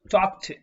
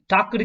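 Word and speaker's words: talked: டாக்டு கிடையாது, டாக்ட். இது டாக், இது டாக்ட். இது வந்து டாக்னு சொல்லணும், இது டாக்ட். டாக்டு இந்த மாதிரிலாம் சொல்லக்கூடாது. டாக், டாக்ட், டாக், டாக்ட், டாக், டாக்ட். இதை நல்லா உச்சரிச்சு பாருங்க. இது நிறைய பேர் பண்ற மிஸ்டேக்.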